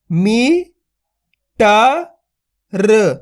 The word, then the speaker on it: मीटर: का उच्चारण हो जाएगा आपको ये गलती नहीं करनी खींच के पढ़ना है मीटर एक बार फिर से